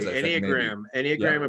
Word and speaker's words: Enneagram: Well, so now the second modality you were telling me about was is it the Enneagram? Is that how I've heard it pronounced? Absolutely. Enneagram and personality.